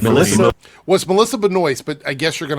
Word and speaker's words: Benoist: You guys know how you pronounce it. Melissa Benoist.